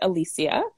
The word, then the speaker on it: Alicia: correct you earlier but actually the pronunciation of my name is alicia thank you it's um i think it's spanish alicia it could be yes